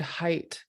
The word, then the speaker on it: height: so for example in the word height there's a silent GH in the middle of the word where we just basically skip it we just don't make a sound during the GH um that's a silent